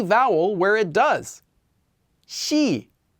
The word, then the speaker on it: 시: vowel where it does she notice it's not c it's she with an sh sound shia even though this